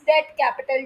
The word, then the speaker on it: debt: फिर आता है बोरोड फंड जिसे हम डेप्ट कैपिटल कहते हैं। पीक हमेशा साइलेंट होता है। डेप्ट मत पढ़ना। इट्स डे कैपिटल। डी ई टी पढ़ना भी साइलेंट है।